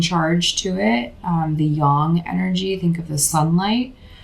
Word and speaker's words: yang: So many people are starting to pronounce it young instead of yang.